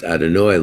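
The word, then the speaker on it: Adonai: when you understand that you'd have hey pronounced adonoi lord is the nucleus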